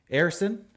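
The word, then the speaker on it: Ersson: Erson, that's how you pronounce his name, got the start, led in 4 goals and 29 shots.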